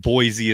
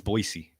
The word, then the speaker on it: Boise: It's like Boise isn't Boisey, it's Boisey, right? Kind of kind of similar. Boisey, not Boise.